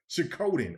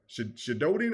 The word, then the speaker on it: Suikoden: Suikoden. Okay. Suikoden. Shododen or Suikoden?